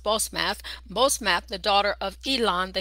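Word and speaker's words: Basemath: Wife number two, here it says, and it's pronounced Bosmath, the daughter of Elon the Hittite.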